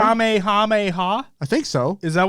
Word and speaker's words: Kamehameha: fortnite content creators that didn't know how to say Kamehameha yeah like they're like kamiyamiya or like whatever am I saying it right yeah you are Kamehameha I think so is